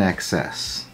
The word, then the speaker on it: INXS: you do something in excess oh oh I see but the band is I nxs no it's spelled it's just that's just the spelling okay but it's it's called an excess I never heard of